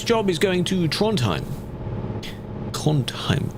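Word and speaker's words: Trondheim: Tronheim. Tronheim. Apparently you don't really pronounce the duh in that sound.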